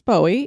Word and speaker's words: Bowie: not Bowie knife because in Texas they say buoy knife now for a lot of us we've grown up saying Bowie knife yeah that was the only way I'd ever heard it pronounced actually so we apologize to Texans but our way of saying it is Bowie and that's how David Bowie said his name and that's where he